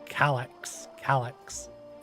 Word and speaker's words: Calyx: Also, you mentioned earlier that how do you say his name? Calixus? That the kid? Oh, Calyx. Calix, yeah. That you mentioned that he might be an Asian.